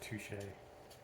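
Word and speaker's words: touché: the consequences of the world's corruption it's actually pronounced touche thanks for that okay it's says no time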